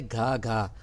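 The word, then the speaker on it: 哥哥: उसके बाद है घा घा, जी लिखा जाएगा लेकिन बोलेंगे, इसको प्रोनाउंस करेंगे घा घा, बड़ा भाई, एल्डर ब्रदर।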